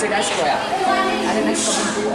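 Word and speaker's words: toea: And its currency is 1 toya, 2 toya. We pronounce it as toya.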